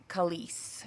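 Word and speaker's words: Khaleesi: Khalees is how you say it. It is Khalees, okay.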